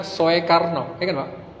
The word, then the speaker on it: Soekarno: pakai ini makanya dulu Namanya Soekarno bukan Soekarno Soekarno penulisannya tapi cara bacanya suka Kenapa itu semua lafaz-lafaz